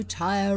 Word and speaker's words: Tyre: a true born phoenician tire tire forever oh tyre rules the waves as the old song says